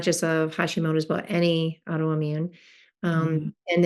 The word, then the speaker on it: Hashimoto's: So I had a question around women for Hashimoto's. Tell me if I'm saying it wrong too. It's Hashimoto, right? Or Yeah. there's an S on the end of it, or Yeah. Hash- Apostrophe S.